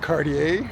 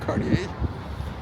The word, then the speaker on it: Cartier: And Cartier, I think that's how you pronounce it, Cartier.